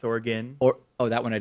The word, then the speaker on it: Oregon: I'm doing the best I can here to pronounce things I've been corrected that it's not Nevada it's Nevada it's not why it's Oregon or oh that one I didn't know okay